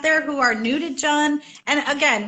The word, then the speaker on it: Jun: any newbies out there who are new to john and again like we're saying john rhymes are fun but you can say june